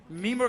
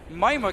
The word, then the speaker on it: Mimir: Mimir came in. I'm sorry for calling him Mimir. It's actually the way you pronounce it in Swedish. But Mima came in from behind.